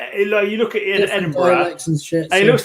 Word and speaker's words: Edinburgh: Edinburgh is Edinburgh. Oh, it's not pronounced that way. The borough of Edinburgh. Edinburgh, we say.